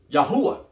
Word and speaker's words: Yahweh: in our community the Creator's name is commonly pronounced as Yahweh Yahweh I'm not read this paragraph family but